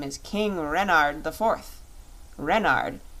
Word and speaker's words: Renard: Renard, with the accent on the Ren."